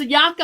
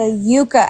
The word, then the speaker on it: Yuka: I saying it wrong do use the Yuka app oh Yuka okay I say yaka and I'm wrong I have been baking